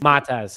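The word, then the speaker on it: Matas: More on diehard Bears, but uh and then uh the rookie there, Matteas, how do I pronounce his name? The He's Matez. Matez, he's been he's been cooking.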